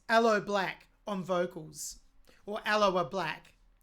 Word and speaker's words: Aloe Blacc: It's from Avicii's debut album titled True that was released in 2013 and featured, I'm not sure how to pronounce this, I think it's Aloe Black on vocals, or Aloe Black.